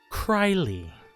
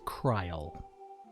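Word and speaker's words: Krile: a name now and it is I believe properly pronounced cryly the most English speakers would call it kryl but I'm going by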